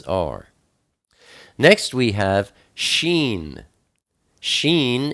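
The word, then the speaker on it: ש: next we have sheen sheen is the number 300 and it's pronounced sh like shim it's the picture of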